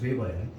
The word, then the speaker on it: 베버: 그 막스 베버라는 사람이 뭐냐면 우리가 거기 발음은 V 발음이니까 베버야.